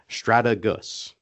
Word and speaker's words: Strategus: And so the official pronunciation according to Webster is Stratagus.